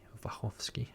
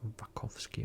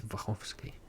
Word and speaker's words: Wachowski: I'm Polish, okay, so I want to pronounce the last name as it is actually Polish, so I would say Lana and Lili Wachowski, not Wachowski or Wachowski or whatever they actually try to pronounce it in, like in English. It's Wachowski. And this set also includes obviously the original trilogy.